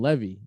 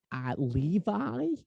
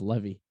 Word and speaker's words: Levy: But he pronounced his name Levy, Levi, like jeans. And we used to call him. And the teachers used to mispronounce it all the time. We go, Levi, and he'd be like, it's Levy.